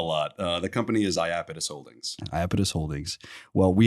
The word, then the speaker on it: Iapetus: get that a lot uh the company is iapidus Holdings iapidus Holdings well we had a great